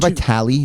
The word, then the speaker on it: Vitale: Is it Vitale? Vitale, yeah. Okay, yeah, Dick Vitale caught a lot over the years for not pronouncing that.